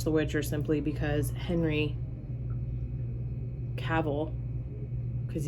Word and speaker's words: Cavill: witcher simply because henry cavill because you're supposed to say it like travel cavil is amazing oh he's